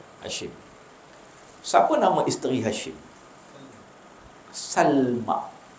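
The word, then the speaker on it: سلمى: Salma. Bukan Salma. Salma ni bahasa kita. Sin lam mim hamzah. Sin lam mim hamzah di atas.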